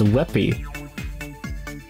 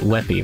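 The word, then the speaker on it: WebP: with jpegs huh you whippy colloquially pronounced whippy you kid me no one calls it weppy right I no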